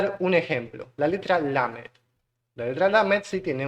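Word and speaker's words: למד: Que su verbo es justamente Lamed, ¿sí? Se pronuncia igual.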